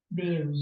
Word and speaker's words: bury: Bury. So B is correct. Not B E. is correct, yes. Bury. No, not bury. It's not bury, it's bury. Even though it's BU, it's bury.